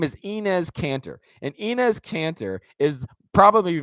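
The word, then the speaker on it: Enes Kanter: to say his name right his name is inez cantor and inez cantor is probably my new favorite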